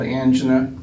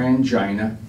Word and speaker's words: angina: And the sensation that people get is called angina or angina. The word is pronounced both ways is acceptable.